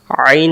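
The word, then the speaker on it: عين: তাহলে আমরা আইন অক্ষর হলকের মধ্য থেকে একটু চেপে পড়তে হয় আইন।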